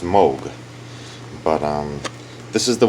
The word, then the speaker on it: Moog: joints these are these are this is not pronounced moo it's pronounced Moog but um this is the one that is